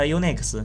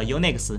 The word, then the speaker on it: Unix: 那么之后啊，因为在贝尔实验室啊，大家都读它 Unix，但是 UNIX 和 UNICS，对，其实发音是一样的。